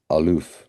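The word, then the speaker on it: אלוף: So here's the word alf, the first one, and it's pronounced aloof, right?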